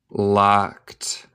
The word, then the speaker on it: locked: But they were all locked. No te pronunciación. El E no existe, el D suena como T.